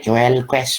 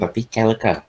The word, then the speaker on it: quelques: Ini bacanya kelke ya, bukan kelkes, bukan, tapi kelke.